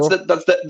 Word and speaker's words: Warsaw: The pronunciation? I mean, that's Warsaw?